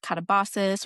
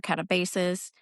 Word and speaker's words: katabasis: You might have heard this word pronounced katabosas or katabasis, but ultimately it is a Greek word for delving down.